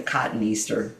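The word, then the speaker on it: Cotoneaster: and by the way I know people say cotton easter cuz it certainly looks like that. Um there's no right way wrong way to pronounce um the dead language that we call these plants in but for the most part that's koniastaster. You say each syllable in it.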